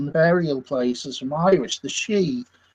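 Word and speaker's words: sidhe: places from Irish the she it's it's spelled s d h e um whereas in Ms it's it's spelled sh hou e so the spelling is different but the pronunciation the same I know uh midsummer's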